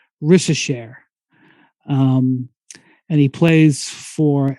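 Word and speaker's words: Risacher: can say is Zachary his last name I think is pronounced rishashare um and he plays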